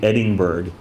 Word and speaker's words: Edinburg: We say, you guys know how people pronounce it in the valley? We say Edinburgh. You heard it right? I live in Edinburgh. Like there's a G after the N.